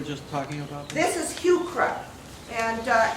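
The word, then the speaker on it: Heuchera: e r a in in botanic name CH is always pronounced as a k um so HRA and um as I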